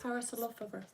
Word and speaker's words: Parasaurolophus: Parasaurolophus. Parasaurus. And that's one of them ones with like a spike on the back of its head, isn't it? Yeah. So, a Stegosaurus and a Parasaurolophus.